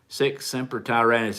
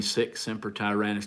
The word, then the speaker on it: Sic semper tyrannis: Are you Sic Semper Tyrannis? Is that, I'm going to get this wrong, and don't shoot me. Or is that Marines? I believe it is. I believe that's Marine Sic Semper Tyrannis.